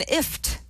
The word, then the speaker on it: IFTTT: Also, Buffer and IFT, so that's IFTTT, which we've also profiled on the Social Hour in the past.